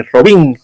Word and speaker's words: Robin: Las historias argentinas del Superhombre, que también acá imprimieron a Batman y Robin, le llamándole el murciélago, y Robin, con acento en la I. A Robin.